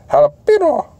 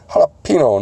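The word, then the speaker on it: jalapeño: Fuck it, pick me up a bag of jalapeno chips too. What the fuck flavor is that? Jalapeno, Ricky. It's jalapeno, not jalapeno. Yeah, the age is silent.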